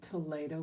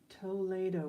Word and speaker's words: Toledo: So this is Toledo ware. That's the proper pronunciation. Thank you, Lily. I always like to thank those who help. Toledo ware.